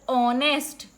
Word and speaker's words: honest: For example, honest. So the H is silent here.